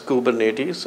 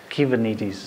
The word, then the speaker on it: Kubernetes: a Greek word and it's funny how we pronounce it as kubernetes and the Greeks laugh at us because it's key vanities key vanities when attacked so since